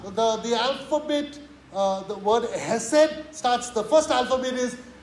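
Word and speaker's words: חסד: So I'm not supposed to say Hesed, I'm supposed to say Hesed.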